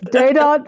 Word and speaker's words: Dadant: Is it Dadot like fondant? yes.